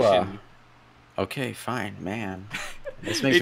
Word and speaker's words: Liwa: says Lua. I say it. No one says Lua. Are you sure it's Lewa? Liwa, yes, is the official pronunciation. Liwa.